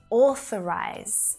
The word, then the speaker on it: authorize: Same with authorize. Starting with or as in door, followed by the TH sound. F, right? It's the unvoiced TH sound made with air, followed by the schwa.